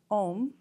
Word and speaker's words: om: byby word translation is om is the beginning of many mantras and that is symbolizes the body speech and mind of the Buddha all in Combined it's actually three syllables it's the OM the a